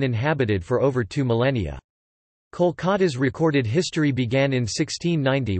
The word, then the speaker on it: Kolkata: Kolikata, although the city's name has always been pronounced Kolkata Kolkat, Bengali, Kolikata or Kolikata Klikat, Bengali, Kolikata in Bengali.